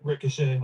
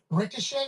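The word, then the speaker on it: Risacher: I know the eer is an a sound, right?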